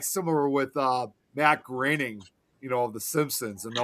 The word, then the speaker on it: Matt Groening: It's kind of like similar with Matt Groening, of The Simpsons, and a lot of people always thought his last name was supposed to be pronounced Matt Groening.